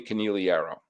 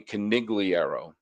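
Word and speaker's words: Conigliaro: And the Red Sox had a star outfielder by the name of Tony Caneliro. And I'm very, very careful to pronounce his name like that. U a lot of people said Tony Canigliierro.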